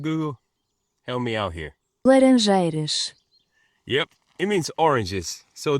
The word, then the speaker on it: Laranjeiras: Laranjeiras.